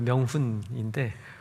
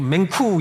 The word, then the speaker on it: 명훈: 명훈이라고 부르다. 명훈인데 명이 발음이 안 되는 거 같더라고요. 이러더라고요. 발음이 안 되고 이러더라고요. 어 제 이름을 아주 그냥 대놓고 맹쿠 이러더라고요. 됐으니까 어마이 확상하더라고요.